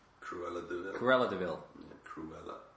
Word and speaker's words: Cruella de Vil: You should get one of those Cruella de Vil cigarette holders.